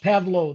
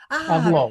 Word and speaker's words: Pavlov: My name is pronounced Pavlo. The last V is silent. Pavlo.